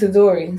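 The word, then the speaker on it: Itadori: a dory no i keep saying his freaking name wrong does that say it right yeah it's a dory so i would definitely say that this is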